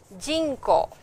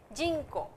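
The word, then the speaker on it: 人口: But the word is jinko, jinko, jinko, okay, jinko. Jinko means population.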